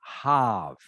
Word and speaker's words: halve: This word here, the L is silent. Okay. So it is pronounced halve.